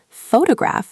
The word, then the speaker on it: photograph: For example, photograph has stress on the first syllable, but photography has stress on the second syllable.